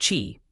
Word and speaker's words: qi: TCM is based on the concept of qi, pronounced qi, vital energy that flows through specific pathways in the body called meridians.